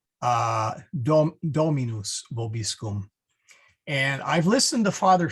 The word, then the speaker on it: Dominus vobiscum: So the correct pronunciation is Dominus vobiscum, but you'll probably hear me say Dominus vobiscum.